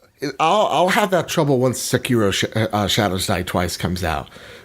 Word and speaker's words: Sekiro: And so Sekiro, am I pronouncing that right? You are.